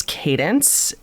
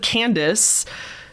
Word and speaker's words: Cadence: And this one starts, "Hi, Hannah, it's Cadence." Cadence is how you pronounce it. Thank you very much. I probably would have said Candace, even though there's no N between the A and the D, but I appreciate that.